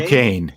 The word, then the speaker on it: Duquesne: going to be, I believe, I can never pronounce their name right. Is it Duquesne? Duquesne.